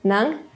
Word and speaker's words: ng: Finally, nang is an indirect case particle.